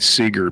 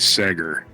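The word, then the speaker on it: Seeger: and on but then he kept calling Pete Seager Pete Sager and I'm like oh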